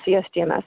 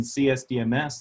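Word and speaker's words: CSDMS: surface dynamics modeling system you can pronounce it with a soft C so it sounds like systems and it is an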